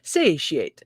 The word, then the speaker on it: satiate: i'm it's a challenge satiate so satiated why isn't it spelled with like an sh sh satiate say she ate satiated okay satiate i